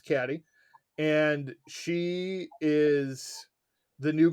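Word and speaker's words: Cady: So, Mean Girls follows the story of Caddy, often pronounced Katie in the film because they don't want to listen to her. Her name's Caddy, and she is the new girl.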